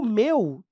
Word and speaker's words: meu: ó m e meu esse Mel aqui pessoal traz uma uma vogal aberta e o meu traz uma vogal fechada muito simples Fala aí ó Canta aí meu e de repente muda meu você perceber que a sua boca vai fechando melu para você fechar o timbre você vai ter que fechar a boca meu isso aqui tem